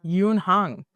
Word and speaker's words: Youn: Youn.